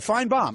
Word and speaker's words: Finebaum: It's pronounced as though the second syllable is B-O-M-B, right? No, that's a Southern thing. We like bombs. Yeah. Which is all good. Finebaum.